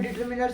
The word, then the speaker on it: determiner: तो डिटर्मिनर क्या होता है, कई कई लोग इसे डिटर्मिनर्स भी कहते हैं, जो कि एब्सोल्युटली आपका रॉन्ग है ना। तो इसकी करेक्ट प्रोनाउंसिएशन आप इसकी डिटर्मिनर से होती है, बाकी आप चाहे इसे